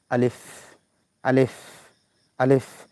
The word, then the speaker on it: আলিফ: এজন্য আলিফের শেষে বাতাস হয়। আলিফ আলিফ আলিফ।